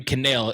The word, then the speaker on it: Connell: didn't know this but Kirby canel is how you pronounce his last name um okay yeah but